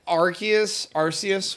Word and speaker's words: Arceus: But I think that Arceus, whatever the fuck you want to call it.